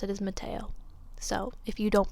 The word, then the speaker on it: Mattheo: We're gonna pronounce it as Mattheo.